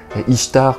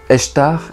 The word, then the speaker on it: Ishtar: de la déesse sumérienne ishtar qui serait né donc d'un oeuf qui flottait sur l'eau istar qu'on prononce aussi ai-je tard et qui aurait peut-être